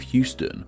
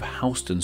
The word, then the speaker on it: Houston: And while they are spelled the same, they aren't pronounced the same. Which, believe me, I found out about in my Neighborhoods of NYC video. In Texas, we have the city of Houston, while in NYC, we have Houston Street.